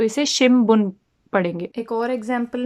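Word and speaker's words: 新聞: जाएगी अगर आप इस रूल के हिसाब से प्रोनाउंस करेंगे, तो इसे शिमबुन पढ़ेंगे।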